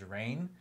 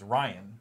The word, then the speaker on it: Rainn: And he complains about people saying his name wrong all the time, which people think it's Ryan, right? And it's not.